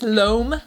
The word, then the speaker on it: Loum: it's called lo moom lom loam of a beauty loam beauty like i'm taking a loan on my house but it's loam like i live alone i